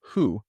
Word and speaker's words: ふ: It's important to remember that hu is not pronounced as the F sound, since Japanese doesn't have an F pronunciation.